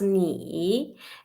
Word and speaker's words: 你: About this one, 你 the Chinese pinyin, we pronounce ni, and at the beginning of this consonant initial, we call this initial at the beginning of the syllable, yeah?